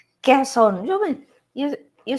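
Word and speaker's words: Quezon: And how come some people call Kwanzan? Somewhere in Manila. at the misspelling it or mispronouncing it. Quon westerners we have a habit of doing well. I know I do like bad kesson.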